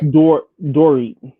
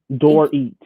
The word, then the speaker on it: Dorit: love it that kathy kathy mispronounced dorit's name we should call it dory door eat dorit that's what it is yeah and this